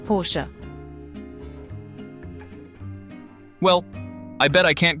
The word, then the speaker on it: Porsche: Look at that Porsche. I love their cars. Actually, it's Porsche. Seriously? Why the extra syllable? It's a German brand, and that's the correct pronunciation. Most people say Porsche, but it's Porsche.